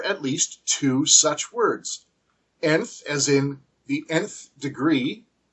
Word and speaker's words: nth: least two such words nth as in the nth degree and TV now the word nth has it implied e sound the short e sound at the beginning one could spell it